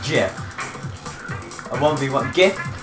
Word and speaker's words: GIF: watch it it is jeff the Creator said is pronounced jiff I won't be one